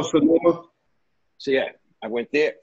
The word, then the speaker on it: Sonoma: you know, I went from Simona, am I pronouncing it right? Sonona. Oh, Sonoma.